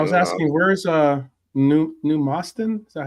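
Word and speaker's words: Moston: The man plays are a decent partnership for Moyes to have like No, I was asking where's uh New Mustin. Is that how you pronounce it?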